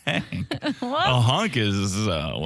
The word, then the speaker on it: Hank: Hank is a hunk. It's not hunk. It's Hank.